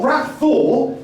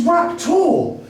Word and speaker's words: Rapthor: It's not Rapthor, it's Raptor. There's a silent H, my mistake.